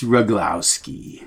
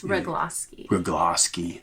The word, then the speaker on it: Rugloski: like officially occasionally but roglowski it's rogloski i say everybody's name